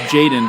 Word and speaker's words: Jxdn: I know it's like pronounced Jaden, but if you say JXDN out loud, you really sound like you're doing a Taika Waititi character.